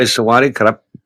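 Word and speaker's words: สวัสดีครับ: Normally you'd say Sawadee Cup, which is the male part of, female would say car.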